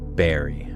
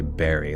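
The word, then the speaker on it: bury: R Y or no, B U R Y is berry. I need to say berry like a crunch berry.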